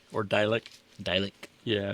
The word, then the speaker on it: Dalek: So, um the next one I'm going to pull up is Dick or Dalek. Dalek. Yeah. It's spelled D- A L E K.